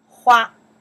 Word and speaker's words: 花: Hua. Pronounce.